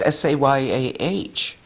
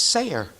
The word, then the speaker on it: Seguin: I said, "Oh, yes, Eustace, who was from Cooperville in the 1800s, everybody says Sayah. Sayah. Sayah. See? And in Vermont, it's Sayer. Sayer.